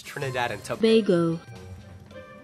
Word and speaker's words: Trinidad and Tobago: It's Trinidad and Tobago.